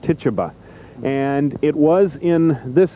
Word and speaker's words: Tituba: the slaves was called we think the pronunciation is Tituba what Tituba and it was in